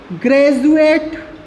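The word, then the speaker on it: graduate: हम लोग देखते हैं एजुकेशन, एजुकेशन, ग्रेजुएट, ग्रेजुअली। ये कुछ ऐसे वर्ड्स हैं जहाँ पर D का जो साउंड प्रोड्यूस होता है वाइल द रीडिंग, तो यहाँ पर रीडिंग करते समय हम D को ज साउंड प्रोड्यूस करके पढ़ते हैं।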